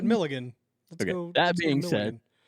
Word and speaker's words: Millikin: Mill Milliken. Right. Not according to my dad. Oh. It's Milligan. You want to turn on Milligan? Like, well, there's Milliken. Is that what he meant? No, he said Milligan.